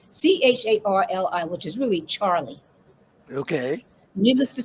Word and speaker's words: Charli: i should i should say the way it's pronounced c-h-a-r-l-i which is really charlie okay needless to say she's named after charles